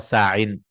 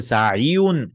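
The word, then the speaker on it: ساعٍ: You'll not say sa'iyun. You'll say sa'i.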